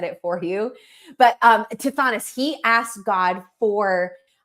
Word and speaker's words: Tithonus: But Tithonus, he asked God for like eternal life, like